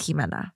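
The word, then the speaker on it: Ximena: coming from that like Hima with an ex is silent so that makes sense my mom wasn't trying to be funny like that's how you say it in in you know Spanish culture here I don't know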